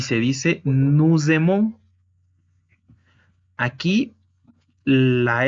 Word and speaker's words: nous aimons: Y recordemos que el momento de ligar una S con una vocal se escucha como una Z. Es por ello que se pronuncia nous aimons.